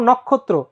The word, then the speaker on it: নক্ষত্র: দুইবার উচ্চারণ হইছে ব্যতিক্রম তারপর নক্ষত্র যেটা তোমাদের বলেছিলাম খিয় খিয় মাঝখানে আছে তাই এটার উচ্চারণটা কি ভাইয়া কয় খ কয় খ এবং এই ত এর র ফালার নিচে তোমার ত এর নিচে একটা র ফালা তাই তোমার কি হইছে তাই তোমার এখানে দুইটা ত হইছে ঠিক আছে আচ্ছা তারপর